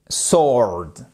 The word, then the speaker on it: sword: le tranchant double edged Sword alors Sword c'est pas Sword Sword non W ne se prononce pas double edged vous prononcez